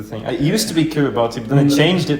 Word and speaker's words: Kiribati: I actually have no idea why, but it's pronounced Kiribati. It is, but What? Kiribati? Yes. It is. It's I don't have a problem with it being. Yeah, the TI becomes an S, but I thought they spelled it that way.